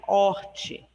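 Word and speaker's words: hortae: O horti se escreve H-O-R-T-A-E. Esse A-E ele fica com o sentido, com o som de I, tá? Horti.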